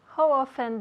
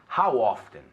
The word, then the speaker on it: how often: How often, eso es. Ahora hay 2 pronunciaciones. Hay gente que dice how often y pronuncian la T, y hay gente que se come la T. Entonces, how often.